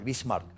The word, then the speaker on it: Bismarck: Lo pronuncié mal, Bismarck.